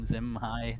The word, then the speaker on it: Zam Hai: Um, it was Zamhi Doharn do Zam Zamhai. It was always supposed to be Zam Hai.